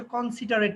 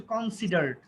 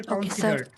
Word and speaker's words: considered: একটা হচ্ছে স্প্রেড, উচ্চারণটা তুমি ঠিক করে করতে পারোনি, স্প্রেড। আর এটা হচ্ছে কনসিডারেট না, এটা হচ্ছে কনসিডার্ড। ওকে, স্প্রেড আর হচ্ছে কনসিডার্ড।